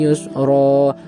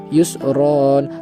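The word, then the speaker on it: يُسْرًا: Bismillahirrohmanirrohim Inna ma'al Usri Yusro harusnya ketika Normal itu Yusron tapi di sini karena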